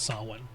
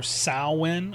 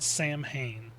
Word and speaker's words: Samhain: that people make about sawin. Mistake number one, as I mentioned earlier, it's the pronunciation. It's either sawin or sawin, depending on cultural and linguistic differences, not Sam Hayne.